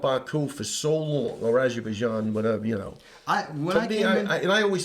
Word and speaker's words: Azerbaijan: Azerbaijan. Azerbaijan. There's a ZH, but okay, it's but if it was a close.